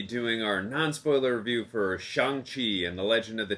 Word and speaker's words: Shang-Chi: our non-spoiler review for shanxi and the legend of the 10 rings did you hear that greg from real rejects i said shang chi i pronounced it right i hope you're happy